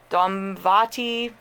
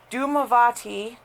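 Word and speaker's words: Dhumavati: heck baba-yaga Lilith Hecate dumb Vaati I'm sorry I mispronounced that doom do move on let me see I just lost the page - I'm sorry I had to stop my camera and restart it doom avati d hu ma VA TI that's how it's spelled all right baba Yaga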